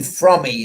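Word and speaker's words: Fromme: i met squeaky from squeaky from me is the way she pronounced her name uh lynne squeaky from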